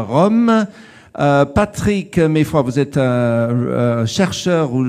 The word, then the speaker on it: Meyfroidt: Comment est-ce que je prononce votre nom de famille? C'est Meffroy? Voilà.